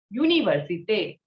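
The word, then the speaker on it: université: is an english word in french it is pronounced as universite the next letter is we how is we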